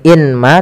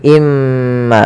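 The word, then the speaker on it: مَّآءٍ مَّهِينٍ: Maka cara bacanya masukkan ke huruf mim yaitu imma. Bukan lagi inma tapi imma sambil ditahan gunahnya dua harakat.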